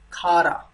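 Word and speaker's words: खारा: It's Khara. Khara. Right? Khara. Ra is like a little prominent here, more focused here. Kha, kha. It's aspirated ka sound, right?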